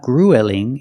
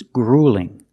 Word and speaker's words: grueling: a marathon is grueling also notice with the uel we don't say UL it's not grueling it's grueling use the long u plus the light L grueling it's grueling he's